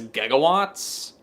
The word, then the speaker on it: gigawatt: So, nobody told anybody who was making the movie that the actual pronunciation for it is gigawatts. But after the movie came out, they went to the dictionary and changed it so that way, you know, gigawatts is a legitimate pronunciation of it.